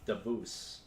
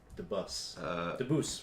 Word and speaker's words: Dabus: That's one of the Dabus. Or Debus, we're gonna say is the Okay.